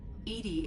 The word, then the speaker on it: EDI: EDI is the phonetic pronunciation of EDI.